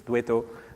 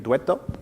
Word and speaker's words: Douetteau: It's a very French name, E-A-U at the end, but it's Douetteau. Think of it as an Italian name, Douetto, if you want.